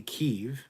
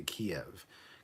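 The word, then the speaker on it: Kyiv: sorry start that again say kiev because that's the proper way to say it don't say kiev kiev is the russianized ownership so yeah matt boardman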